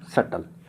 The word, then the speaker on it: subtle: यहाँ पर बी क्या है, साइलेंट है, तो क्या बोलूँगा मैं, सटल।